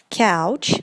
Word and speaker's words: couch: В первом случае у нас будет couch, как ouch, когда ударяетесь об что-то, говорите же, да, ouch. вот таким вот образом будет произноситься couch. И во втором случае у нас coach, coach, ouch, да, через о уже звук. Отлично.